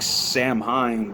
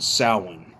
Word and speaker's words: Samhain: Ireland they pronounce it sin that's how you pronounce it in Gaelic for those of you don't know anyways all right y'all let's So, I'm chug this one chug with y'all.